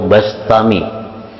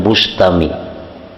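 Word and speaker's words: البسطامي: Bistami atau Bastami. Jangan Bustami. Jadi bi atau ba. Karena dalam beberapa kitab ada yang mendabitkan bi kasril ba, Bistami, ada yang bi fathil ba, Bastami.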